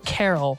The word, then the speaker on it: Carroll: How do you pronounce? Carol.